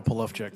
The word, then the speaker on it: Polowczyk: Polachek, and Mr. Giroir, is that the correct pronunciation? Yes, thank you. No, it's Admiral Polachek, not Mr.